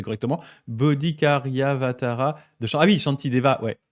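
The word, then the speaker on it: Bodhicaryāvatāra: rappelle les versets de alors attende je vais prononcer correctement bodikariavatara de ah oui chantia ouais ok ah ouais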